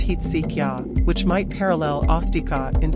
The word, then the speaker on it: Hezekiah: It's supposed to be pronounced Heetsikya, which might parallel Astika in Sanskrit.